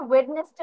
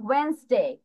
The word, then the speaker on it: Wednesday: আচ্ছা, আমরা হচ্ছে ওয়েডনেসডে উচ্চারণ না করে প্রোনাউন্স কিভাবে করবো? ওয়েন্সডে।